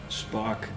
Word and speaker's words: Spaak: Wir sind einfach ein Fischer-Podcast und der Spaak, wie spricht man das auf Holländisch aus? Der. Wie heißt es zum Nachnamen? Danke, Spaak. S-P-A-A-K. Spark. Danke.